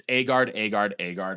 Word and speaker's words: Agard: It's Agard. I keep saying Ogard. I was saying Ogard forever.